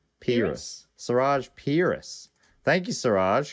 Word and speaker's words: Peiris: By the way, it's like penis but with an R. So Peiris.